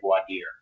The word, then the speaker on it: voir dire: I say it, maybe I'm wrong, I say voir dire. Okay, so voir dire, jury selection, and if you're not comfortable with the pronunciation, especially with the first DUI trial, go ahead and just call it jury selection.